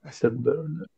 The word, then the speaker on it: afterburners: Sì, perché praticamente la E che c'è in mezzo quasi non la pronuncia. Afterburners.